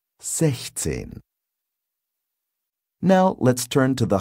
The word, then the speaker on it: sechzehn: In 16, 16, the pronunciation of 6, 6, is slightly different. Compare. Sechs. Sechzehn.